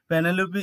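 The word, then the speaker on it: Penelope: the ancient Greek goddess of victory 35 panelope penelopi is an elegant Greek name that means weaver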